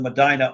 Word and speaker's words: Medina: an email and said, "This is how you say it. It's Medina," and I spelled it out phonetically. And the next update she did, she said, "I apologize to the people in Medina, Ohio. I called it Medina. Okay, it's Medina, Ohio."